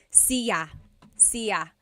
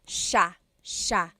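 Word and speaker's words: siya: It looks like it should be pronounced sa cia but it's actually pronounced sha sha. So the s i y it's a sha sound.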